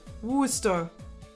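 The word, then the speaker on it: Worcester: Rhyming with rooster. Wooster.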